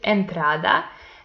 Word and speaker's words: entrada: The next example is entrada, and it also belongs to llanas because the penultimate syllable is the stressed one, but these words end